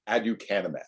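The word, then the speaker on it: aducanumab: many of us spent years learning how to pronounce uh before the brand name came out and was easier to say that's adukanema so if you hear or read about adukanymab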